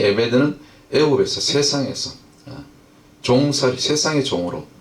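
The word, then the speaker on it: עֶבֶד: 이거는 히브리어로 에베드라고 그래요. 에베드. 요거 동그라미 점이 3개 있으면 에 발음이 나오거든요.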